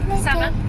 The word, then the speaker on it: salmon: Salmon? Am I pronouncing it correct? Salmon. It's a fish salmon. Oh, salmon.